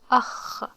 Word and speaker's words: أخ: And this is a noun, so when the letter in the end and it's a noun, it has no vowels. So, akh, akh, akh.